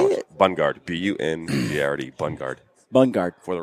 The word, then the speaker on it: Bungard: Bungard.